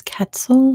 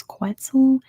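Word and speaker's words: quetzal: is a quel or I think in English it's katel and in Spanish it's quel but whatever di got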